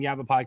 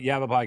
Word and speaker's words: Yavapai: I had to write out his college phonetically because the last time I had him on, I had a hard time saying Yavapai College, but Yavapai College is Ryan Gray.